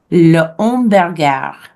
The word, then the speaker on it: le hamburger: But remember, we don't pronounce H's at the beginnings of words in French. So for hamburger, it sounds like this. Hamburger. Le hamburger.